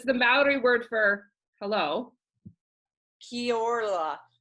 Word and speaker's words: Kia ora: Kia ora. Because you rolled your L, your R. Yeah, you try to roll your R if you can. Kia ora.